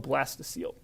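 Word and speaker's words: blastocoel: the blastula called the Blastoise seal and that's pronounced seal is in the adorable pinniped seal the Blastoise seal is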